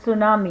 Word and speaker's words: tsunami: बारे में सुना होगा इसका स्पेलिंग टीम से शुरू होता है लेकिन इसका प्रनंसीएशन हम करते हैं सुनामी अ का दरिया में